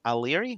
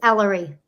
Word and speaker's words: Ellery: I think you're a friend of Susanna's, and I may be mispronouncing it. Aliri? What a pretty name. Alir? However it is, I apologize. Susanna, how do you pronounce Miss Lincoln's name? It's Ellery. Ellery.